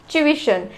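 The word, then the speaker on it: tuition: ट्यूशन, ट्यूशन बोलते हैं, कुछ लोग ट्यूशन बोलते हैं। एक्चुअल इसका जो प्रोनाउंसिएशन है वो है ट्यूशन, ट्यूशन। इसको हम बहुत फास्ट अगर बोलेंगे तो ये ट्यूशन जैसा सुनाई देगा।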